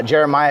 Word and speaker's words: Jeremiah: me my name is jeremiah uh jeremiah is a four syllable name if you're gonna have